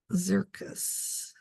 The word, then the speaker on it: Xircus: six and it is zircus is zentagle so spelled like circus a see but with an X all right and then